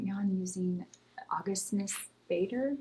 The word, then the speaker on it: Bader: Right now I'm using Augustinus Bader. Am I saying it right? Augustinus Bader or yeah. Batter. Okay, how do I say it? Augustinus Batter.